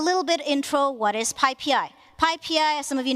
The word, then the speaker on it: PyPI: It is PyPI, not PyPI, one pi, not two pies.